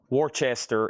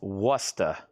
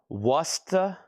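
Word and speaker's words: Worcester: Warchester is pronounced Wora. Worusta.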